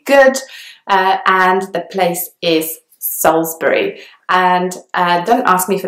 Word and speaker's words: Salisbury: or solace burry and that I in the middle is not pronounced at all and the word is just kind of very short when you hear it but it's slightly longer when you see it spelt and so it's Salisbury